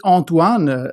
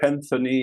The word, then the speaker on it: Anthony: pleasure or is it antoan actually no no no it's and in French it's anony but Anthony in English or whatever but it's my real